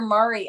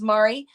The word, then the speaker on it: Mari: Congratulations, Mari. Is it Mari or Mary?